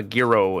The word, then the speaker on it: gyro: gyro or something you're it's like apparently it's Giro but I call it gyro well I mean the